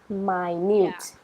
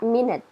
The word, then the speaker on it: minute: we have the words meaning small minut my needs it's not minute minute there's something else and then minut a